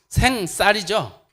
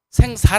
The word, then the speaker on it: 생쌀: 쌀을 막 생쌀, 제가 경상도 출신이 이게 잘 발음해야 돼요. 생쌀이죠. 생살 아니죠.